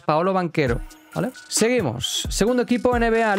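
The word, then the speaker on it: Paolo Banchero: lo pronuncio mal recuerdo Paolo banquero fue nada de Pablo banchero eh que algunos escuchaba así y yo era el primero que te lo decía sin un principio es Paolo banquero vale seguimos segundo equipo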